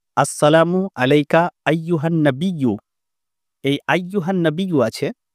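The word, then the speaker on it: أَيُّهَا النَّبِيُّ: দেখুন, আসসালামু আলাইকা আইয়ুহান নাবিয়্যু, এই আইয়ুহান নাবিয়্যু আছে। তো অনেকে এইরকমভাবে উচ্চারণ করে, আসসালামু আলাইকা ইয়া আইয়ুহান নাবিয়্যু, মানে ইয়াটা এক্সট্রা লাগিয়ে দেয়।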